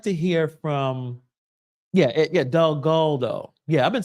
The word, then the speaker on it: Delgado: Michael is not Delgado. It's Delgado. I gotta remember that. So I know I've been not pronouncing his name correctly. I want to change that. It's Delgado, not Delgado. It's Del and then Galdo.